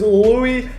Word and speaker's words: Louis: My username is Louis #4. My name is spelled L-O-U-I-S, but everyone pronounces it as Louis, and I'm just like, no, it's Louis.